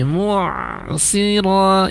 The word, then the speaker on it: المعصرات: Wa anzalna minal mu'si tidak mu'sira tapi mu'sira ya, ain sukunnya dialirkan lagi.